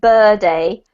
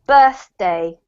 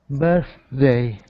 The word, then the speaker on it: birthday: was yesterday well done don't forget with birthday just imagine that it's two separate parts elvator we don't want it to sound like bir day we want the birth and then the day so birthday birthday perfect that's much better well done Jazelle your